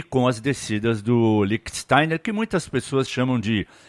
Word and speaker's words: Lichtsteiner: O Lichtsteiner faz parte do lado alemão, e segundo o meu professor Gerd Wenzel, a pronúncia é Lichtsteiner, Salgueiro.